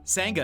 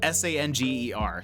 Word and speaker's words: sanger: uh hey uh Sanga is on saying uh saying is on this list though it's spelled s-a-n-g-e-r so I would definitely be saying that a Sanger I think that is not correct um a banana Bender